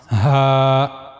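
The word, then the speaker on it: ه: As you can see in the picture, you have to use the low the lowest part of your throat to pronounce H.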